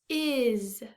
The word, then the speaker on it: is: Your next spelling word, boys and girls, is. Is. What is your name? Is. Is spelled I-S. Is. Now, boys and girls, if you remember this sneaky sound, Z is made by the S in this word.